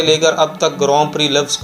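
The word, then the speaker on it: Grand Prix: दिखने में तो ये लफ्ज़ लगता है कि इसकी प्रोनाउंसिएशन होगी ग्रैंड प्रिक्स, लेकिन ये फ्रेंच का लफ्ज़ है तो इसे ग्रां प्री ही पढ़ा जाता है।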